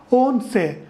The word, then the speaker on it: once: is 11 in English oh and see is pronounced as once once means one time however this ONC in Spanish is pronounced as won't say it means Levin okay